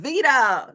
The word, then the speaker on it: Viddya: Vida.